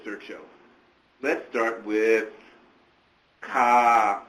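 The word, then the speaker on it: KÀ: Let's start with Ka. It's not K-A. People pronounce it K-A.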